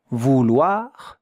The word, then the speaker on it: vouloir: Look at how to write it, vouloir, and look at how to pronounce it, vouloir. 2 syllables, yeah? Vouloir. Vouloir, with the French R that you see here.